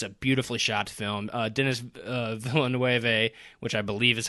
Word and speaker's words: Denis Villeneuve: Denis Villeneuve, which I believe is how you pronounce his name, is a fantastic director.